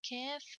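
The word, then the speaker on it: كاف: There is a big difference in the pronunciation between Kaf and the Qaf. Don't pronounce Kaf, Qaf, and don't pronounce Qaf, Kaf.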